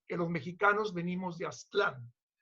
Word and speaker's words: Aztlán: Que los mexicanos venimos de Aztlán, que además está pronunciado Aztlán como en español, porque debería ser en Aztlán, en náhuatl, pero bueno.